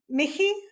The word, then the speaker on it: Michie: It's Mickey. It's like a Michie. silent ch.